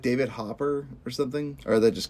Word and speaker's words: Hopper: And seeing Hooper, how do you say his name? Hopper.